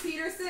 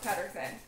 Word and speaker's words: Pettersson: Okay, so I literally thought that it was Peterson. I thought it was Pettersson. Then I heard him pronounce it Peterson online. From the video I saw, he likes the Canadian or American pronunciation of Peterson, but it's actually pronounced Pettersson. So I don't really know anymore.